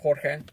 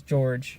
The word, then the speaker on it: Jorge: of the spelling, and other languages pronounce it as Jorge. That's more Spanish.